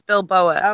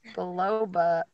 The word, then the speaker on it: biloba: How do you say that? Ginkgo bilba Biloba. biloba. Or maybe it's Bilboa. Okay, I've I don't always said remember. biloba, but it's biloba.